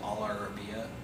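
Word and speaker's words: Al Arabiya: television program that's called all Arabia in English in uh Arabic it's pronounced Alia and there's a GL stop before that Alia that's actually quite common uh I don't remember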